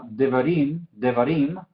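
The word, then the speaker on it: דברים: Entonces, esta palabra devarim, ¿sí? Im es donde cae el énfasis, es la sílaba tónica.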